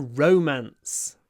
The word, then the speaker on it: romance: romance in my life it's a kind of double stress Rance romance I more I kind of stress both the syllables in this word romance romantic romantic in romantic I do more or less the same a double stress romance romantic o a